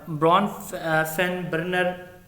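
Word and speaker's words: Bronfenbrenner: सर इसकी सही pronunciation जो है ना वो ब्रून फीन बर्नर है। ब्रॉनफिन ब्रॉन नहीं बर्नर।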